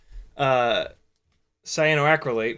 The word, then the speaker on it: cyanoacrylate: I bought this expensive ass 3M cyanoacrylate, where the hell it is. Cyanoacrylate, yeah, that's how it's pronounced.